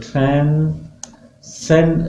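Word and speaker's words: transcend: यहाँ पे वर्ड 4 दिए हुए हैं, तो अपोजिट आपको ट्रांसेंड, ट्रांसेंड, this is the pronunciation of the word ट्रांसेंड, एस पे स्ट्रेस है, ट्रांसेंड, ट्रांसेंड, ट्रांसेंड।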